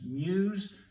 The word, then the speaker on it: Meux: a lady called Valerie Lady Meux, M-E-U-X, sometimes pronounced Muse, but Lady Meux, Lady Muse.